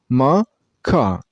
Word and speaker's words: macaw: And you also stress on the second syllable. I mean on ka sound. So the full pronunciation would be macaw. Macaw. The first syllable is pronounced very shortly. Like this. So macaw.